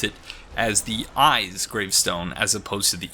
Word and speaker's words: Isz: is as I've been pronouncing before is actually pronounced eyes and that seems to me to be a